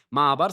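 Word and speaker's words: מעבר: Ma'abar se pronuncia así, exactamente así, ma'abar, ¿ok?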